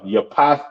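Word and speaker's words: יפת: Japhet or Japhet, you understand? Pronounced Yapath in the Hebrew, which means open.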